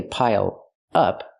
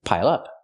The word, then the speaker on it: pile up: Pronounce it like one word. Don't say pile up. Say pile up.